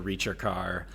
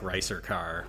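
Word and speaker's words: ricercar: It's funny because in the end dialogue, the Reacher car, which I think is how you pronounce that word. I think you're right. It looks like Ricer car, but it comes from an Italian, musical term.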